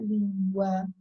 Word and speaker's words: língua: Acentuar a penúltima, aí fica língua. Então, a sílaba tônica não é a que tem o A, é a que tem o LIM.